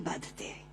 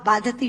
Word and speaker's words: बाधते: मुंह से बोला हुआ बाधती शब्द कष्ट दे रहा है, क्योंकि बाधती शब्द का अशुद्ध उच्चारण आपने किया है। ये शब्द बाधते होना चाहिए। भारम न बाधती राजन यथा बाधती बाधते।